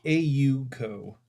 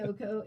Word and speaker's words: Oko: It's so technically it's AU co, and it shouldn't be. Like I understand, but it should be Oko. It rhymes.